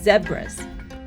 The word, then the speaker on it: zebra: The first animals we came across were a group of zebras, and apparently in South Africa, as well as most other places outside of the US, the pronunciation of this animal is actually zebras.